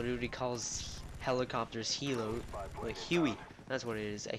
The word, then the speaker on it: Huey: calls helicopters Hilo a huey that's what it is a huey instead of Hilo it's Huey so I'm calling an